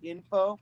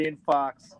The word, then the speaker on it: Infaux: I was in a band called Info, but it was spelled like INFAUX, like fake information, because we were good at that.